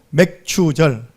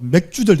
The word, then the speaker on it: 맥추절: 보리를 50일 만에 거두었다 해서 오순절, 보리를 거두었다 해가지고 맥추절. 아까 우리 오순자사님 잘못 발음하면요 맥주절 될 뻔했습니다. 맥추절, 보리를 거두어 드린 그 절기.